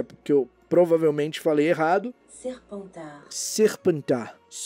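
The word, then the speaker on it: Serpentard: Deixa eu ver qual que é a pronúncia, porque eu provavelmente falei errado. Serpentar. Serpentar é o nome de Slytherin na França.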